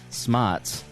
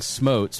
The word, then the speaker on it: Smotz: And I have to apologize to Dan Smottz. I've been saying smotes for roughly 5 years now.